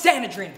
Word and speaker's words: Sanedrin: ill pathogen D with me the name is pronounced sanadin time time time time good